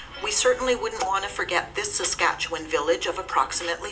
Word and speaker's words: Forget: We certainly wouldn't want to forget this Saskatchewan village of approximately 55 people. A French name, the village is pronounced more like Forget instead of forget.